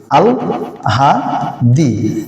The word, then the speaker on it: আহ্লাদি: কিন্তু এখন আপনারা বলেন তো, হ এবং ল আছে, তাহলে উচ্চারণের সময় ল কোথায় আসবে? আগে। উচ্চারণটা হয়ে যাবে কি? আল হা দি।